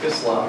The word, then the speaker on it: Islam: at least I would say in my family, the way they say it is Islam or Muslim with a soft S, not a Muslim but